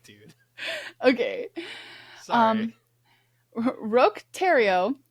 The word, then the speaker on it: Roch Thériault: Roch Thériault called himself a prophet.